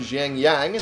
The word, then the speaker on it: Xiangyang: Oh, Sun Se has completed a successful raid on Xiangyang. There we go, I pronounced it right this time.